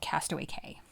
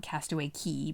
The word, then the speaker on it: Castaway Cay: in the Bahamas, called Castaway Cay. Ah. Or Very Key. okay. It's spelled C-A-Y. A lot of people call it Castaway Key, but it sounds like K to me.